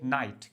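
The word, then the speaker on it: knight: और next one इज़ अब यहां पे ध्यान रखना के साइलेंट हमारा रहता है। के साइलेंट रहेगा। जब भी के और एन एक साथ आते हैं तो यहां पे के स्टार्टिंग में हमारा साइलेंट हो जाता है।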